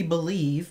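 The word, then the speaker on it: Beilive: the shade number five supposed to be believe but it's spelled b-e-i-l-i-v-e this is just the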